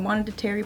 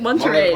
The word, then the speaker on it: Monterey: Like oh my God, Monetary Park alone. Like Monetary Park? Monetary Park! Nice. Yeah! No, that's good. Monetary. How do you say it? Monterey.